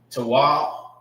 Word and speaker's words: Tawab: Tawab is pronounced by itself. Ta is ta, and the indicator or the connector is meaning that you pronounce it together. Wow. All right, meaning it don't have an A at the end.